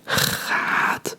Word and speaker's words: gaat: Gaat, and a double A, mostly a double A means a longer A sound. So it's just hoe, ga, gaat. Don't forget to pronounce the T.